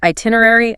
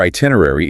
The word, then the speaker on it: itinerary: Let's start with itinerary, amenities, and incidentals. Your itinerary is your master travel plan. Note the pronunciation. Americans say itinerary, while the British compress it into itinerary.